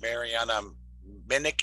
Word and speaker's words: Marianna Minich: the speaker introduce herself marianna minich it is is that how your name's pronounced yeah okay marina minnick introduce